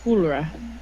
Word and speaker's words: Hulra: name is pronounced how it sounds when I'm preparing to vomit. Pretty much. Pretend it's got some elven flair, though. It's Hulra.